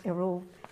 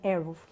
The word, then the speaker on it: Eruv: Okay, in Hebrew you pronounce Eruv. In English, some people are saying Eruv. So I use the Eruv as Hebrew original word.